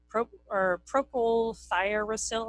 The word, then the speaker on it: Propylthiouracil: Propylthiouracil, I think is how it's pronounced.